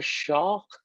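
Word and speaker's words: Shough: 2022 Tyler Shaw from Oregon, who's now at Texas Tech. Shuck, right? Yeah. Is that how you say it? Once Texas. Yeah, you say like Shuck.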